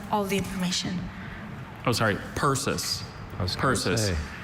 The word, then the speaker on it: persis: Persis.